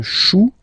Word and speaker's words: chou: Then un chou. Okay, remember, when you combine this C and H, you get the sound sh, sh, sh.